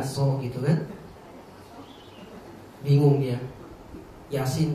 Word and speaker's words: Yasin: Yasin bacanya yasa.